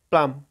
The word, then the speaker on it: plum: তারপর দেখো এখানে আছে বরই, পাম, PLUM, প্লাম, উচ্চারণ হবে প্লাম, মানে হচ্ছে বরই।